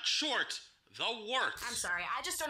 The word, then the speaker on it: Wort: It is the Wort. Not warts, not forts, not short. The Wort.